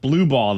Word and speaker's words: Blubaugh: It's pronounced Blue Ball, though.